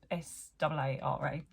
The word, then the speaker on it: Saara: It's a late, I believe you still pronounce it Sarah, but it's SAARA.